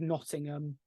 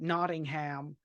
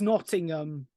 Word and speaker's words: Nottingham: play the Sheriff of Nottingham that he calls it Nottingham it's Nottingham okay it's pronounced Nottingham I don't live in